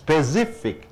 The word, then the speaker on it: specific: இந்த அட்ஜெக்டிவ்னு வரும்போது ஐசிக்கு முன்னாடி வரக்கூடியதுக்கு உச்சரிப்பு கொடுக்கணும். ஸ்பெசிஃபிக், ஸ்பெசிஃபிக், ஸ்பெசிஃபிக் 3 சத்தப்பங்க. கக்கா க, கக்கா க, கக்கா, அந்த ரெண்டாவது கா கழுத்து கொடுக்கணும். ஸ்பெசிஃபிக்.